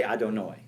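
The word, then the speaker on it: אדני: And then it had the second thing, because how do we pronounce it? We pronounce it Adonut. Ado. We say Adonoi.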